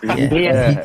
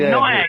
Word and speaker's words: Niak: I know it looks like Nyack, but his name is Niak. It's pronounced Niak. He told us. Know that. Fucking sick of it. People calling him fucking Nyack.